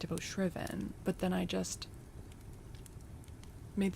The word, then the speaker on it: shriven: head and pronounced it shven. Okay. It's shriveven. Well, today I learned. Yeah. Like drive driven.